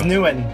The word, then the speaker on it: Nguyen: It was Nguyen.